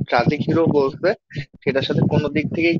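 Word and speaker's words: Synge: তাই না মানে অ্যারিস্টোটল যে ট্রাজিক হিরো বলছে সেটার সাথে কোন দিক থেকেই কি মরিয়াম ম্যাচ করে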